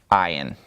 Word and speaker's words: ayin: That is the letter ayin. And it has a numerical value of 70. It is the 16th letter. It has a value of 70, and it is silent.